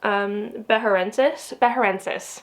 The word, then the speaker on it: beharensis: So this guy here, this is a Calancho, oh gosh, I can never pronounce this, Beharensis, that's what it is.